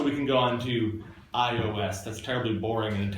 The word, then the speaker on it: iOS: Is there a food that it rhymes with? iOS? No. Oreos? Oreos. Okay, good, thank you. We could have added a cheer onto the front to just make it Cheerios.